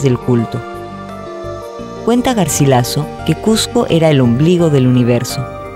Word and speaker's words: Cusco: Cuenta Garcilaso que Cusco era el ombligo del universo. Su etimología alude al amontonamiento de piedras y su pronunciación original habría sido Cosco.